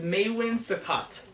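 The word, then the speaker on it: Maewin Succat: on that one actually I think I'm pronouncing it correctly m a e w i n so I think that's maywin and then sakat s u CC a t beautiful he later adopted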